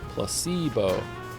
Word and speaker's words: placebo: precocious placeo oh Placebo the stress is on the middle Placebo placebo very good you're